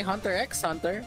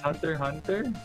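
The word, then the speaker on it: Hunter × Hunter: uh mean it's the same thing with with Hunter Hunter you don't say Hunter x Hunter or spy family no do you mean spy X sorry anyway so we're playing it's Hunter Hunter yeah it's Hunter Hunter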